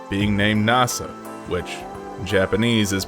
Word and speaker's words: Nasa: weird name being named nasa which japanese is pronounced like the space agency and he wants to